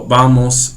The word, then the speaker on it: vamos: They don't do so much the V with the V like we do in English. They actually generally put their lips together. So, vamos a la tienda. Vamos. Sounds like a B, as in boy, even though in Spanish it's a V.